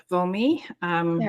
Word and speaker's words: Wilmi: Am I pronouncing that? Yeah. Yeah. Wilmi.